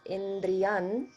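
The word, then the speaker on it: इन्द्रियम्: that in the word indriyam you may have noticed that it's pronounced as indriyan when the dhatu follows so that's that um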